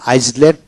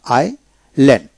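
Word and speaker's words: island: এখানে আইসল্যান্ড নয় আইল্যান্ড। এখানে আই পরে এস উচ্চারণ হবে না।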